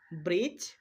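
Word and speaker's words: bridge: ডিজি আর ডিজে যদি পাশাপাশি থাকে তাহলে আমরা ডি কে সাইলেন্ট রাখব। উদাহরণ দেখো। ব্রিজ জাচ হেচ গ্রাচ প্রত্যেকটা উদাহরণের মধ্যে আমরা ডি এর পরে জি বর্ণটা খুঁজে পাচ্ছি সেইজন্য আমরা ডিটা সাইলেন্ট রাখবো অর্থাৎ ডি কে উচ্চারণ করা চলবে না ঠিক তেমনি করে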